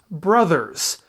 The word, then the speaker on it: Bros.: See, BROS is the word pronounced bros. BROS period is an abbreviation pronounced brothers.